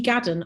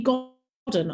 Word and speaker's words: Godden: Right, okay, so moving on, we've got another question around Lee Gadden asks, sorry, I've got your name wrong twice this evening, Lee Godden asks, will you be changing